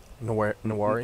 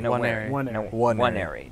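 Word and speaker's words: Nwaneri: Nawari? Nawari, yeah, okay. If he... Waneri. Nawari, yeah. Waneri. Waneri. No, don't pronounce the N.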